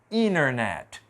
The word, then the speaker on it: internet: desse jeito você viu o NT pode tirar o t internet interville 20 é extremamente